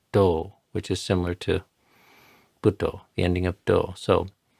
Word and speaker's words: Buddho: example we have here, the first syllable of Buddho gets 1 unit of time. The second do gets a second because it's aspirated, not because it's aspirated, D, but because it has a long O.